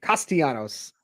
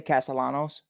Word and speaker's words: Castellanos: guy ostianos I could I just kind of like saying his name castianos you know I used to say it wrong all the time I used to say Castellanos yeah that's that's all